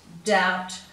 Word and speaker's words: doubt: Then in the following ones, we have a silent B.